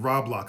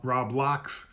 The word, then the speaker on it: Roblox: Somebody actually told me how to pronounce it. Roblox. I've been pronouncing it Roblox.